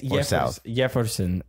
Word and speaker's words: Jefferson: It's not Jefferson. It's Jefferson. Even though there is a J right there. It's spelled with a J, but it's pronounced.